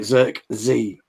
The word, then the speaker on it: Zirkzee: Zirkzee.